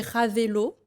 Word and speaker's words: Ravelo: Alors c'est, oui, tout on prononce. collé, et Ravelo, Ravel, Ravelo en fait, Ravel sur Facebook et Instagram.